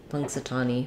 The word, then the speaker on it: Punxsutawney: fill in Punxsutawney um it's useful to know that that n is an NG sound just like we were just talking about so you have pong and then this x punks it's an S sound the a says uh the aw says Ah and then we would put the knee I would put the e sound there any y just says